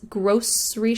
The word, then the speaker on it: grocery: sh in the middle, grocery shopping. But some people say grocery with an S, grocery shopping, grocery shopping, just a regional difference.